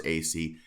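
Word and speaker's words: Asay: in contact with Carlos Acey, who was a member, or it's AC. It was a little bit of an unusual pronunciation.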